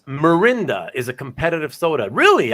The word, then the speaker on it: Mirinda: okay oh so you uh Mikhail you you mispronounced it at first and it's mirinda is a competitive soda really I I've never